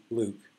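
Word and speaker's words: LIWC: different analytical systems now linguistic inquiry and word count pronounced Luke and basically you feed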